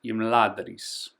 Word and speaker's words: Imladris: And the pronunciation is Imladris.